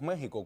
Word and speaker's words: México: México, sí, porque hay veces que decimos México con J, pero sin embargo lo escribimos con Con X.